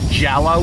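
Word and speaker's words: Jellö: No, it's green, it's spelled like green jelly, but because it has those two dots, I guess you gotta pronounce it Jello still.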